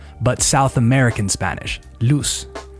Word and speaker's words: luz: Well, maybe not if you're Spanish from Spain, because they would say luz, but South American Spanish, luz, luz. It's that same S sound.